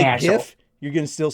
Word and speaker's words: GIF: That's the correct pronunciation for both.